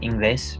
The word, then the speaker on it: inglés: ¿Hablas inglés? Yes, it's pronounced inglés for those of you reading. If you don't know about the vowels of Spanish, inglés is how this is pronounced.